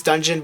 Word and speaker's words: dungeon: roko kui and yes I said Dungan I know it's dungeon but I just like